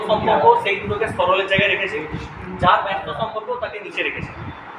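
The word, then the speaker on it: ρ: হচ্ছে এরকম টেরা রো এটার উচ্চারণ হচ্ছে রো আর রো ডব্লিউ ঠিক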